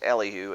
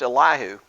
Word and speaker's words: Elihu: I said his name was Elihu, and it turns out that that was probably the wrong way to pronounce his name. His name actually should probably be pronounced Elihu.